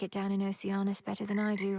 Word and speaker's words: Oceanus: You might like it down in Oceanus better than I do right now. It's Oceanus, okay. Now I know how to pronounce it.